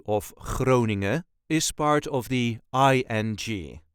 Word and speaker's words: Groningen: is called croning croning this is the way us duchies sayon croning there is a very light emphasis on the first part of the wording cing n as you can hear not every letter is pronounced and especially not the last letter and yes there is